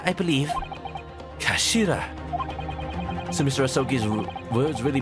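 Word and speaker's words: 頭: end of the hilt it's written as head in japanese but it's pronounced as kashira i believe kashira so mr rasoggy's words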